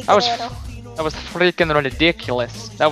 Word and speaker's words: Guerrero: We got the Latino Heat, the lying, the cheating, the stealing, Eddie Guerrero. Man, did you hear that little, like, roll of the R? Eddie Guerrero.